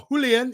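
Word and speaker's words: Julián: read morris plays who julian or julian if you're gonna pronounce it right alvarez does start tonight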